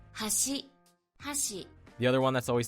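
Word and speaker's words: はし: The most famous examples include words like bridge and chopsticks being pronounced with the same kana, but they have different pitch patterns. Hashi.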